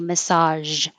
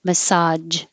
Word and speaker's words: massage: for ring conquer conquer this is massage with a zh or with a ja you can say massage or massage both ways are fine but this